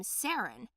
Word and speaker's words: Saren: A week later, I decided on the name Saren, with an accent on the E.